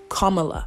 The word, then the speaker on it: Kamala: biden and vice madam vice president kamala harris kamala okay that's how you say her name if you didn't know okay because that mispronunciation not acceptable i know what it feels